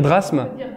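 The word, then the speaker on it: DRASSM: prononcer toutes les lettres il s'agit d'un acronyme qui faut prononcer comme un mot normal voilà donc maintenant on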